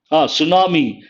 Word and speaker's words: tsunami: Tsunami. T is silent.